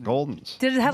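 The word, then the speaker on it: Gulden's: Oh, we got a Goulden commercial where it pronounces it Goulden. Oh, The good. subtlest one throw. We don't have it queued up. I just watched it on my own, and they said Goulden. So Jimmy's right.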